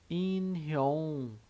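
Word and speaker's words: 인형: Aqui no caso dessa consoante neutra, ela é um pouquinho diferente, né? Ela tem o som neutro quando está no início aqui da sílaba e o som de NG no final da sílaba, né? Todas as outras é em relação à posição na palavra, mas esse NG é quando ele está nessa posição embaixo ali da sílaba.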